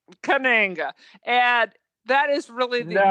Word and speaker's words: Kananga: Katanga That's from Live absolutely and Let right. Die. He's great. I always remember Mr. Katanga. I'm probably saying it wrong, Kananga. but and that is really Kananga, and that is really the only good non-Sean Connery.